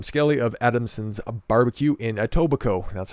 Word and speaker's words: Etobicoke: Premier Doug Ford criticized Adam Skelly of Adamson's BBQ in Etobicoke. That's how you pronounce that, if that's the first time you've seen that goofy little word.